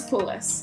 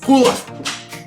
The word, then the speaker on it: Pulos: Yeah, I was like, the exact pronunciation. And it's Pulos. Pulos.